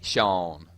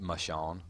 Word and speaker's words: Sean: It's me, Sean, not Mashawn.